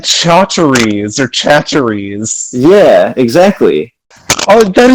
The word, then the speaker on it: Chachere's: department for introducing I'm like- me to the great taste of Tony Chachere's Creole seasoning. Oh my god, it's you fucked up the pronunciation on fucking purpose. What? What is it? It's Tony Chachere's.